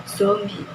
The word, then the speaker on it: zombie: Pengucapan berupa fonem Z diucapkan menjadi fonem J. Pembenaran pada kata bercetak tebal seharusnya diucapkan menjadi zombie.